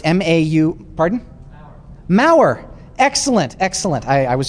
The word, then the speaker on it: Maurer: believe it's m-a-u pardon maurer excellent excellent i i was just gonna spell it um i believe it's m-a-u-r-e-r is that correct yes so wonderful wonderful book on